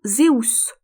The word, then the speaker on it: Zeus: à Jupiter ou Zeus, dont il faut, je crois, prononcer le nom Zeus.